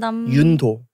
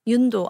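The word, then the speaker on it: Yoon-do: It's like Yundo. Yundo. Yundo. Yundo Nam. Yundo Nam. Like Vietnam.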